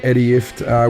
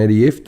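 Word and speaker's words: Ifft: And we've decided that we've talked Eddie into making his name second because it rhymes with shit. So if you go Talking Shit with Jim Jeffries and Eddie Ift, it works.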